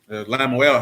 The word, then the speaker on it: Lemuel: What, Lemuel? Oh, you like that? Yeah. Lamuel. Lamuel, how you pronounce it. That means for Elohim. Lamad, Meme, U, Aleph, and Lamad. Lamuel.